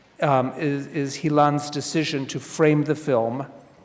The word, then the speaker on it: Hilan: I believe that Hilan, is that the way it's pronounced, Hilan? Hilan.